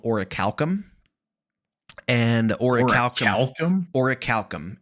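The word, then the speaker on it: orichalcum: of Atlantis cites this mythical metal that's called oricalum. and orical. Oricicalum, it's spelled o r i c h a l c u m.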